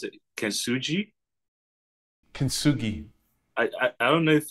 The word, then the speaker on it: Kintsugi: The like what you mentioned about the, how do you pronounce it? Kintsugi? Kintsugi.